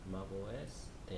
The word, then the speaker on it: Mac OS X: Pronounce it Mac OS 10, and the specific version names are Leon, released in 2011.